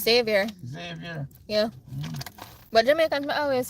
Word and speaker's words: Xavier: Exavior. It's Xavier.